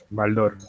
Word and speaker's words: Baldor: tienen a entonces baldor baldor español es una palabra grave sí sí es una palabra aguda el acento en dor si tuvieras en temple